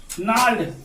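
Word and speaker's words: gnarled: Fathers नाल्ड, जी silent है, नाल्ड disease, नाल्ड का मतलब होता है गठिया, गांठदार, गांठदार, डिजीज मतलब बीमारी।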